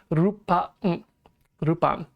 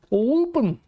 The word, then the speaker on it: Lupin: supposed to be pronounced, you should look at the katakana of which his name is used to be spelled, Rupan. And sometimes it's done correctly, and other people like me able to say Lupin.